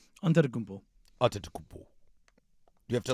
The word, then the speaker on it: Antetokounmpo: Giannis Antetokounmpo. Did I say that right? Antetokounmpo.